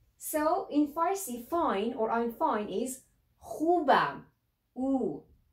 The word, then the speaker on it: خوبم: You may find it a little bit difficult to pronounce kh sound, but I will tell you, let's say, the back of your tongue will touch the upper part of your mouth and you say So one more time, let's try it together.